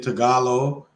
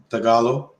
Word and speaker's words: Tagalog: Speaking Tagalog, even the bad words in Tagalog is a Filipino language that they speak. Tagalog. Learning Tagalog.